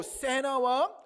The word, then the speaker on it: 세나: 또 세나와 아볼로에게, 이게 발음이 세나 이렇게 되더라고요. 세나나 아볼로에게 지금 뭐라고 얘기하는